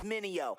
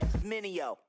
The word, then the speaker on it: Minio: Try to say my name, it's Minio. Say it with me, Minio.